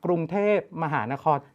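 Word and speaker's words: กรุงเทพฯ: ต้ อ ง อ่ า น ว่ า ก รุ ง เ ท พ ม ห า น ค ร แ ต่ ไ ม่ ต้ อ ง น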